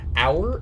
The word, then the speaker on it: hour: in the front, and the H in front is silent. It's not hour, right? We don't pronounce the H.